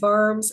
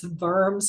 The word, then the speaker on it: Worms: it's the concordant of worms and that W I know it looks like worms but it's vers it's a ger German pronunciation the concordant of verbs